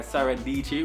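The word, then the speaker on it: Sara Dietschy: Number 5 is That Creative Life, or That Creative Show by Sarah Dici, which rhymes with Peachy.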